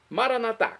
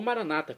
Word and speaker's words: Maranatá: Maranatá, como dizemos nós católicos, ou maranata, como dizem nossos irmãos separados das comunidades evangélicas ou protestantes, não importa. Pronúncia, o significado é o mesmo.